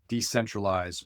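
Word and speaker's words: Decentraleyes: So for example, they have uBlock Origin, and they have Decentralize, which is one that I neglected to talk about earlier. But decentralize, which is spelled like decentral, EYES, that is one that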